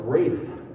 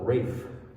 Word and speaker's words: Ralph: composer which is pronounced wraith von williams he didn't call himself ralph he called himself rafe and recently his music